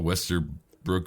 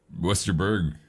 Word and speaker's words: Westerberg: Um, I did not know who Paul Westerbrook was. Westerberg. I just said his name wrong.